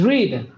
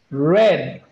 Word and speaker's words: read: this is irregular but it changes in pronunciation in person is read and impasse is red like the color red so these bills you